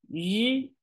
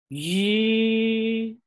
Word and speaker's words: ri: They are a pair, a voiceless and voice pair. The first one is voiceless, the second one is voice. Let's feel the difference of the onset of the syllables. Shi. The vocal cords are not vibrating at the beginning. Yi. The vocal cords are vibrating at the very beginning.